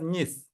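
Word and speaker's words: གཉིས: We pronounce this one as nis.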